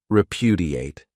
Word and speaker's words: repudiate: This verb has 4 syllables, and the stress is on that second syllable, repudiate.